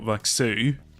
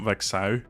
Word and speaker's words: Vexu: But Vexu is how you pronounce it in English, not Vexau or anything.